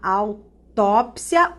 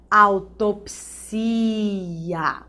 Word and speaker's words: autópsia: Olha essa aqui, você vai realizar uma autópsia ou autopsia, tá? Amnesia ou amnésia. Alopata ou o médico é um alópata. Mesma coisa, biopsia, biópsia. Olha a vida boêmia ou a vida boemia. Os dois estão corretos.